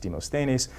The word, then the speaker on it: Demosthenes: demonstrates or a friend told me it's actually pronounced demosthenes when demosthenes the people say let us march so how